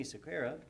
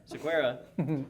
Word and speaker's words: Sequeira: The talk is actually, it's just labeled Cisco CCIE Anthony Sequeira. I did say it wrong that time, didn't I? Sequeira presents Cisco ACI.